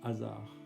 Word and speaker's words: hasard: La musique au-delà des frontières, au-delà et la coloration musicale comme par hasard. qui s'écrit avec un D à la fin mais bien silencieux.